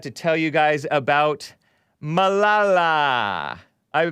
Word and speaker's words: Malala: because I forgot to tell you guys about Malala. I mispronounced her name because I didn't know her name. Mahalalala.